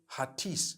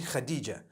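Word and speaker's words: Hatice: I would say Hatis for that. No, it's actually Khadija.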